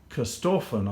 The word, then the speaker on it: Corstorphine: today in an area called Corstorphine, I think it's pronounced, a beautiful Scottish sounding name, in the west of Edinburgh.